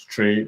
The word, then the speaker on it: Trae: So Tray is spelled Trae.